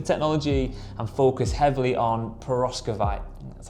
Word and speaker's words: perovskite: REA have made a decision to pause development on the traditional silicon wafer technology and focus heavily on perovskite, that's how you say it, which they believe is the next big breakthrough in solar, and they might be right.